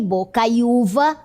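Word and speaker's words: bocaiuva: e ficou feiura e bocaiúva. Note que a pronúncia é a mesma, mas sem o acento.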